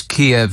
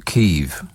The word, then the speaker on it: Kyiv: What did you mean when you said it's Kiev, not Kyiv?